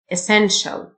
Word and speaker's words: essential: essential. التي اي اي تنطق شه.